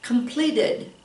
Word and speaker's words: completed: But it ends in a D or T, so we add the syllable. Completed.